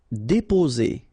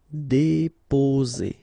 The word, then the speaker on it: déposer: Déposer. Okay, only one S between two vowels, so the sound is Z. Déposer.